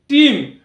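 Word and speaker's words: team: উচ্চারণ করবার সময় বলি টিম অর্থাৎ এখানে আলাদা করে এ যে লেটারটি উচ্চারিত হচ্ছে না ঠিক একই রকম ভাবে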